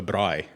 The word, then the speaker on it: braai: We call it a braai. A Braai. A braai. Braai. B-R. You roll your R's too.